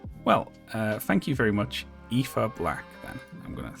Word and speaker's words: Aoife: How would you pronounce that first name there? I was confident, but then it caught in my mouth. Aoife. I just don't believe it when Fizzy types it. Aoife.